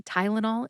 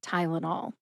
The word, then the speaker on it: Tylenol: That's tie, like you tie your shoes, like lullaby, and nall, which rhymes with y'all.